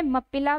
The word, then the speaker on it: Moplah: तो कुछ बुक्स में आपको मोपला भी मिलेगा, किसी में मप्पिला भी मिलेगा, मप्पिलाज भी मिलेगा, तो दोनों ही ठीक हैं आपके।